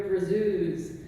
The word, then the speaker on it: brazoo: ladies, put on your brazoos. Because brazoo is canonically, in the Seagar strips, how Popeye pronounces brazier.